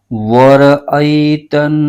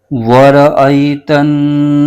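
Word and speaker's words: وَرَأَيْتَ: ت نون زبر تن، نون الف زبر ن، ورأیتن. سین زبر سا، ورأیتن ناس، ورأیتن ناس.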